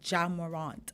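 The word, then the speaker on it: Ja Morant: By the way, somebody messaged me to say it's pronounced Jamorant. Okay, so my corrections. Jamorant, yeah. Yes, apparently I was saying J instead of Ja. Yeah, Ja.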